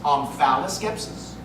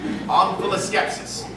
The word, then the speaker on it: omphaloskepsis: Can that also be pronounced omphaloskepsis? It can. It would be wrong. Omphaloskepsis.